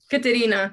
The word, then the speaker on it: Katerina: Katerina.